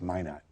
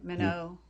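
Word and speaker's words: Minot: but that was really it's Min not yeah Mano meno North dor that's the French pronunciation yeah we Americans call it Min not here I see okay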